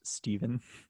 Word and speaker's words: Stefon: having a big game it's pronounced stephen stephen um the bills